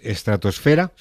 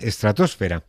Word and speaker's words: estratosfera: de aquí es verdad que decimos estratosfera la hacemos como palabra llana pero en el español de América en muchos países dicen estratosfera como palabra esdrújula y este americanismo o esta forma americana de pronunciar la palabra pues Se recogió en el diccionario ya en el año 2001 así que de ambas formas Se podría decir aunque aquí en el